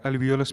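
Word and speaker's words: alveolus: तो ये हो गया एक अल्वेलस का स्ट्रक्चर। ये क्या है, अल्वेलस। ये हो गया एक अल्वेलस, या अल्वियोलस भी आप लोग प्रोनाउंस कर सकते हैं।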